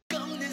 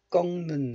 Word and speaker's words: 꺾: 푸른 꽃을 꺾는 손. 꺾는 손. One more time. 푸른 꽃을, 꺾는 손. 꺾는 손. Right? This letter is pronounced as 꺾 in isolation. 꺾.